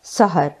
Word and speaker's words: سَحَر: सहर उर्दू में भी बोला जाता है सीन ज़बर के साथ सहर।